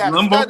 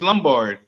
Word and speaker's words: Lombard: George Lumbard his name. George Lumbard. Oh, his name is George Lombard.